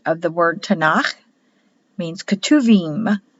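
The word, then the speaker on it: Ketuvim: the word Tanakh means katuvim spelled ketu beam with a B but pronounced as a v in Hebrew and these are the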